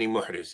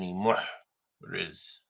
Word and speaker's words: محرز: Ibn Muhriz, yeah. No shadda. Ibn Muhriz.